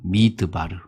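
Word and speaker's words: מדבר: 근데 이거를 이렇게 읽으면 안 되고 미드바르 이렇게 읽어야 돼요. 미드바르. 왜 미드바르라고 읽느냐면 여러분 말씀이라는 단어가 뭐냐면 다바르예요. 다바르. 그러니까 다시 말하면 미다바르를 붙이니까 뭐요? 미다바르가 아니고 뭐였다고요? 미드바르가 된 거예요.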